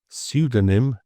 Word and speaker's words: pseudonym: like psychology and pneumonia, we have the silent P. And these Greek origin words often pairs a P with, say, an S or an N, but we drop the P in the pronunciation, but we keep it in the spelling.